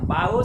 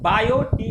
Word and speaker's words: Biot: अब हम लोग जानेंगे बायो सेवार्ट का नियम, बायो सेवार्ट्स लॉ। ध्यान रखना है, बायो टी यहाँ पे साइलेंट है, इसको बायोट नहीं बोलेंगे, बायो बोलेंगे, टी साइलेंट है।